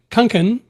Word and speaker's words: Kunken: Kungan. Am I pronouncing that right?